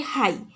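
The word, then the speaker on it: high: सेपरि हाई हाई पिला माने देख एच आई हाई उच्चारण हला जी एच हमर उच्चारण रे आसु नाही तो एठी जी एच हेउछि तुमरो साइलेंट लेटर।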